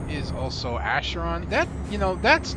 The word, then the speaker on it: Acheron: Anyways, as I was saying, my AB's name is Acheron. That's Acheron. I'm not going to try and pronounce the last name off the top of my head.